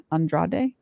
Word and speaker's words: Andrade: Her name is Rebecca Andrade. Andrade is how they pronounce it.